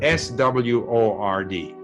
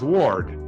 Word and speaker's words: sword: not sword it's sword you have to listen to how it's being pronounced don't be influenced by how it's written and many people would say word they'll pronounce ward sword and ward makes